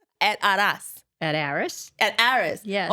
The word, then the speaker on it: Aras: So it's A-R-A-S.